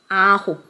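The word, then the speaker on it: 아홉: Ahop. Ahop. Like J-Hope.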